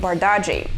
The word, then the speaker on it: Bardghji: But it's simple. First name Ronnie, surname Bardaji.